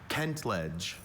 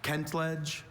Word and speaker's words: kentledge: Kentledge also kentlage. May I have all the information please? Kentledge. Kentlage is a noun.